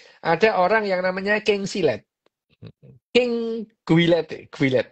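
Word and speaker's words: Gillette: itu ada apa silet mereknya Guilete gitu loh itu dibacanya silet itu king silet king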